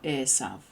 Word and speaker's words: Esav: son of Esau, or Esav, as is, or Esau. He's got different names depending on how you pronounce the vav.